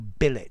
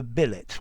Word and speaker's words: billet: But this verb in English, it's pronounced to billet with none of the French left. Although in billet doux, a love letter, I think I would still retain the French pronunciation.